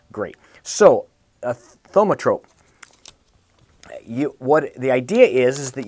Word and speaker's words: thaumatrope: So what I am using this Sunday is we are going to make a thaumatrope, and it's a thaumatrope. It's, if I said that's how it's said, thaumatrope, and it's basically a precursor to the movies, and it's I love it.